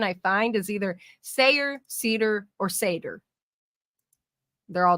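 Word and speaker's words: seiðr: can and like Norwegian Norwegian and stuff it is pronounced Sayer but in English it's pronounced pronounced seder um so the way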